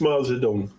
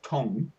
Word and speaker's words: Zedong: And yes, it's Mao Zedong. That's true. No, because it's like I'm old enough to remember when it was Tong and then it became Dong, and I can